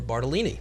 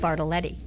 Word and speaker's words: Bartoletti: And today I'm with Barbara Bartolini. Did I pronounce that right? Bartoletti. Bartoletti. Almost.